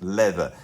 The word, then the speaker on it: Lather: It was spelt Lather, but it's pronounced Leather.